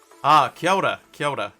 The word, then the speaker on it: kia ora: If people donate or do kia ora.